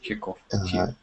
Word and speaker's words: Chekhov: Yeah, so we say Chekhov. But how do you say it in Russian? Chekhov.